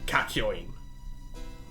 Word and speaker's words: Kakyoin: next up, we have Part 3, Arc 2, Noriaki Kakyoin.